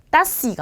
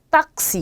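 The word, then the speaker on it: taxi: 자, 그런데 단어 중간에 올 경우에는 이 앞에 오는 아의 모음에다가 기역 받침을 넣어주셔야 돼요. 그래서 요거 읽으실 때 따시가 아니라 딱시 이렇게 읽어주셔야 돼요.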